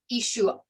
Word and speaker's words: Ishu: You like swallow the ayin in the back of your throat. So it's not an ah sound. It's like Ishu. It stops. It doesn't have the fullness of a sound at the end.